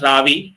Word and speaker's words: Ravi: like my kind of name but it is pronounced as Ravi it is a short form of iravati so